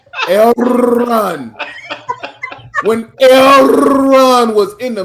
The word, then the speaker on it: Elrond: You got to pronounce it right. Elrond.